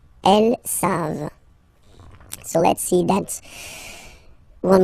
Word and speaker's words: savent: Here, classic ending for il and L at the plural form, E-N-T. You don't pronounce it, so you get the sound savent, v-v-v-v, savent.